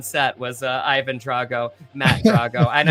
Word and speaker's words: Drago: was Ivan Drago, Matt Drago, and I would have said Drago even though I pronounced it Drago.